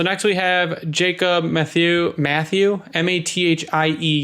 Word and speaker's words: Mathieu: So next we have Jacob Mathieu, Mathieu is Matthew, right? Matthew, yes.